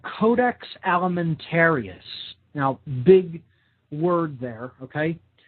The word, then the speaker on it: Codex Alimentarius: should definitely look into and research it's called Codex Alimentarius now big word there okay this is spelled CE o de X codex okay that